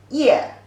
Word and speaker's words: 页: The pronunciation is ye, the fourth tone.